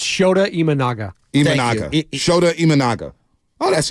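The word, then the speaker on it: Shota Imanaga: watched Network in like over a month it's shoda imanaga imaga shoda imanaga oh that's easy so shoda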